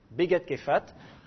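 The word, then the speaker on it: בגדכפת: Begat Kefat. Alors, le P, je le prononce F parce qu'il est précédé d'une voyelle. Begat Kefat.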